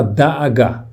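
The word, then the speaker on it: דאגה: A palavra preocupação em hebraico se fala da'agá. Letra Dalet, Aleph, Gimel e Rei.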